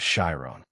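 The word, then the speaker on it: Shirone: Keniko Tu's original name was Shyron. That's right, just two syllables.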